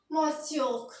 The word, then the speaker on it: monsieur: तो इसकी प्रोनाउंसिएशन होगी MOHNSYOOR। इसको क्या पढ़ेंगे? मोस्योक।